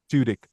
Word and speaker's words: Tudyk: Tudyk.